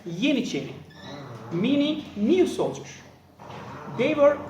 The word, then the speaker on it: Yeniçeri: In Turkish, it pronounced as Yeniçeri, meaning new soldier.